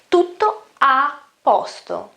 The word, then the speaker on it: tutto a posto: to top pasta and when I pronounced it quicker faster the first o isn't pronounced that well to the pasta you can just skip it okay now these are